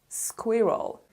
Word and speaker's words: squirrel: storing them for winter the S and Q sound like squa and also the stress is on the first syllable so it is squirrel squirrel for example I saw